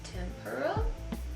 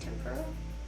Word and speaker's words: Tempera: Use the shade Tempera, I believe is how it's pronounced, Tempera.